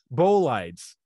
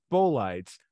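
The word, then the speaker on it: bolides: high enough speed well not how do you pronounce that burlage bow lights okay which b-o-l-i-d-e-s okay thanks bow lights which if traveling at high enough speed will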